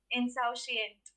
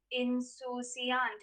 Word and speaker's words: insouciant: had the correct spelling if you followed the french pronunciation in susiant in susiant n i-n-s-o-u-c-i-a-n-t